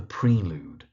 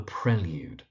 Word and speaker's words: Prelude: The mispronunciation you hear is people calling it The Prelude, but it's The Prelude.